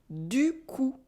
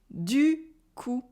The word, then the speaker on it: du coup: You'll probably notice that the P in coup is silent, so repeat after me, du coup. Du coup.